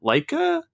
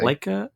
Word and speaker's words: Laika: Well, it's kind of the third big output from Studia, and I always pronounce their name incorrectly. Laika? That's what I say. Laika?